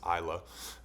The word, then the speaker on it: Isla: Make sure you say it right. It's Isla, and Axel.